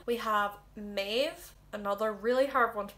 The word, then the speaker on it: Maeve: thinking of moving on to m we have maeve another really hard one to pronounce it's very irish name well they use